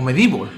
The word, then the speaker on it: MediEvil: con medievil ya sabéis o medible cómo lo pronuncian algunos yo siempre diréis medievil pues pues por el simple hecho de como lo he conocido el juego y bueno hoy empezando